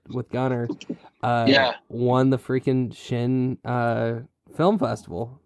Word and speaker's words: Chene: Is it Chene, isn't it? Yeah, you're saying it right.